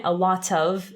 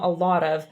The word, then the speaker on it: a lot of: Di solito questa T diventa una flap T, che è più o meno la R italiana, quindi non è a lot of, nel senso lo potete